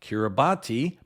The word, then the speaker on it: Kiribati: The name of that country is spelled k i r i b a t i. For a long time, I thought it was pronounced Kiribati because I'd only seen it written on maps, but it's actually pronounced Kiribati.